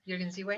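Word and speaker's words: Jürgen Ziewe: Is that how you Yes, pronounce his name? Jürgen Ziwe.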